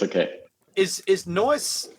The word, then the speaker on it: Nois: it a fantasy name can just pronounce it from anounce it like noise yeah okay that's makes